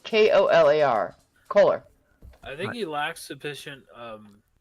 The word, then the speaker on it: Kohler: Kohler. It's not one of those weird ones like Koehler or something like that. No, it's Kolar. Kohler.